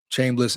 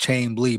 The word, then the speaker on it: Chambliss: Chambliss is pronounced Chambly, by the way.